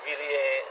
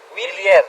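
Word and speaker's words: Wilier: Waktu itu saya pakai Villiers Sento 10 Ramator. Villiers? Ya, Villiers. Willier. Oh, Willier. Willier. Ah, maaf, Tapi lidah.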